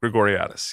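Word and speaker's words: Grigoriadis: that with uh the woman whose name i butchered in the intro but practiced all week vanessa gregoriatis yes yes you nailed at that time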